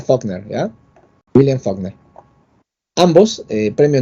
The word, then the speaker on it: Faulkner: Claro, dice Faulkner, ya, pero se pronuncia Faulkner, ¿ya?